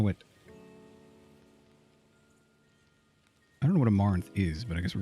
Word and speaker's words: amaranth: this thing as possible amaranth rhymes with as am as in i am and rant amaranth amaranth amarino amaretto